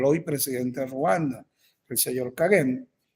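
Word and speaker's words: Kagame: encabezada por el hoy presidente Ruanda el señor kagen pronunciar el hombre difícil se escribe cagam é es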